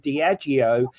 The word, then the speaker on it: Diageo: Oh, so it's not Diego, it's Diego. Diageo. Okay. The I-O at the end it matters.